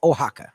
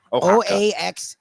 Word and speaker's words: Oaxaca: Okay, so the word that's spelled that way is actually pronounced in real life Oaxaca. Oaxaca.